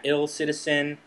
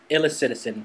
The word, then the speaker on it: illicitizen: this and we had ill Citizen and I was like no it has to be illicit like illicit illicitizen correct all right okay